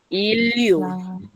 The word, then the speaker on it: 인류: La N cambió a L. Entonces, por ejemplo, esta palabra que significa humanidad se pronuncia Iliu.